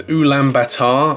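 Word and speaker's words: Ulaanbaatar: butcher the name of their capital city it's ulam Batar I'm pretty sure that's how you pronounce it um but they're going to be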